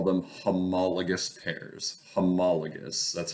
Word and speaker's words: homologous: together all right we call them homologous pairs homologous that's how you pronounce it homologous homologous pair of chromosomes they're lined up right